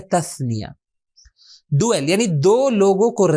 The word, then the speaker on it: تثنیہ: کہا جاتا ہے تثنیہ، بلکہ ہم تلفظ کرتے ہیں تثنیہ، صحیح تلفظ اس کا ہے تثنیہ۔ ڈویل یعنی دو لوگوں کو ریفر کرنے کے لیے ورڈز ہے، جس کی مثال کیا تھی؟